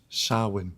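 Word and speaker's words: Samhain: It's pronounced sin.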